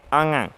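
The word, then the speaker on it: ङ: लेकिन जो कवर्ग का 5वां वर्ण है उसका उच्चारण, शुद्ध उच्चारण अंग होता है, अंग।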